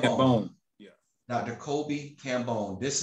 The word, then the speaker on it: Kambon: Kobi Kambon, I'm sorry, pronounce my last name. Kambon. Kambon.